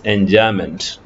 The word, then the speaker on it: enjambment: The first one is enjambment. I repeat, enjambment. The spelling is given there, but the pronunciation is enjambment.